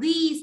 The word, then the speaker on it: this: Còn cái này đọc là this nha. Không mà đọc sai là thành zip đấy.